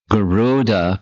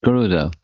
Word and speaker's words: Garuda: And then he said, it's not Garuda, because there's no elongation of the Garuda. It's Garuda. It's, similar, but it's different.